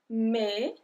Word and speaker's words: mai: Mai, mai. So here the end of the word mai is exactly the same sound as janvier. So ER ou AI make the same sound in French. Mai.